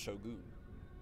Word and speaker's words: shogun: It's pronounced shogun.